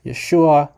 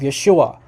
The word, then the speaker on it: Yeshua: It's a transliteration of Yeshua. So in Greek doesn't have native letters to maintain the exact pronunciation. So there's no sh sound in Greek.